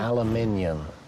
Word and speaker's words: aluminum: How do you say aluminum? Aluminium. Aluminium. God, it doesn't make any sense. It's aluminum. It's not even spelled like that.